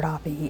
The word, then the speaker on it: Doppe: and I'm yeah okay my name is doppy and I'm one of the assistant principles at